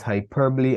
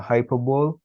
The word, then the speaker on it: hyperbole: get into that we need to understand that it is hyperbole and not hyperbole you know English is